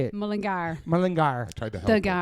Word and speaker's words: Mullingar: Is it Mulligar? How do you say it? Mullingar.